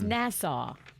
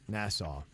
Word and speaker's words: Nassau: this from Jen said I am aware that Nassau has a u at the end but does it really have to be pronounced like that asking for a friend